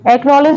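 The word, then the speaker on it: acknowledge: next word है एक्नॉलेज एक्नॉलेज में जो सी है वो भी साइलेंट है जो के से पहले आ रहा है के से पहले आ रहा है वो सी साइलेंट है नेक्स्ट वर्ड है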